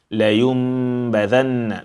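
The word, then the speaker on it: لينبذن: Layumbadanna. There's meme there. You have, and when a meme is silent, you close your lips. You don't open your mouth, otherwise it does not become meme.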